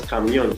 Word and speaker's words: camion: Now it is pronounced as camion for A, which is our answer.